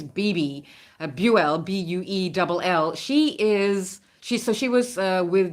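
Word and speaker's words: Bebe: There is some other history here because I can't pronounce his name, but it's B-E-B-E. I think it's B-B, Buell, B-U-E-L-L.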